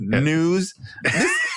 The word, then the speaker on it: N3W5: Oh, it's news.